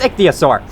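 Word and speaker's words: Ichthyosaur: took me a while to find the correct pronunciation of it but it's iosaur they swim at you and will attack you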